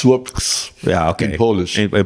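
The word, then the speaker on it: Słupsk: It used to be Stolp. Yeah. Now it's Słopks.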